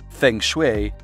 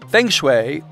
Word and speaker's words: feng shui: at reprogramming your subconscious feng shui apparently pronounced Foom shui but who really freaking knows has a much longer